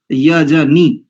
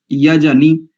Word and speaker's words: यजनी: पृथिवी देव यजनी, नी को भी दीर्घ नहीं करेंगे। अधिकांश आचार्यों के मुख से भी उच्चारण मैंने सुना है, यहां पर नी में जो इकार है उसको दीर्घ उच्चारण करते हैं।